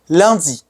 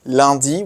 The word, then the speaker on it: lundi: because after learning them, you can easily pronounce words like lundi, which is totally nasal.